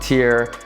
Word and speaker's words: TYR: little unfamiliar to you t y r pronounced tier they originally started in